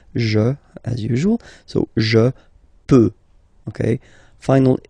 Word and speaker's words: peux: Then tu peux, same pronunciation and same spelling or writing, okay, P-E-U-X, okay, don't pronounce the final X.